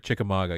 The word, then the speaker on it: Chickamauga: the Chickamauga Dam I think that's how you pronounce it I think it's Chickamauga okay yeah yeah you're right Chickamauga yeah you're right uh-huh uh yeah I mean